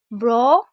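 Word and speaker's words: brought: इसे बॉट नहीं ब्रॉड पढ़ेंगे क्योंकि आर भी है। ब्रॉट, क्योंकि जीएस साइलेंट है।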